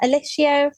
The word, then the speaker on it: Ellishia: It's actually spelled phonetically, but you'd be surprised the amount of people that get it wrong.